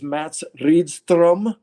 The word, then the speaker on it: Mats Rydström: And then on bass is Mats Rydström, that I'm still pronouncing his name. The rolled R is so hard for us to do.